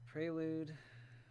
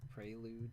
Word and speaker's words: prelude: you know prelude libraries apparently it comes from like a french word so it's supposed to be pronounced prelude in in french so like i know